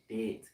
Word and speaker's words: debt: He said, I'm the king of debt. Debt. Debt. Debt. Debt. Gotta say debt. Debt. All right. The B is silent.